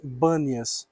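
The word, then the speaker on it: Banias: depois de Cristo, os os árabes têm dificuldade na pronúncia da palavra da letra P. Então eles não falaram paneias e sim bânias. Por isso ficou esse nome Bnias.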